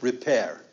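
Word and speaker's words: rapere: ep er II and it's pronounced repair and it means to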